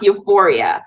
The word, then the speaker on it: U4IA: tell us about U4IA, that's it, right? It's pronounced euphoria.